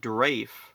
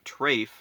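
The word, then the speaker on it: Trayfe: trafe I wasn't even sure how to like spell it like At first I thought it is a general chief or is it draf or Drake what what's his name trafe according to the end credits it's t-r-a-y-f-e I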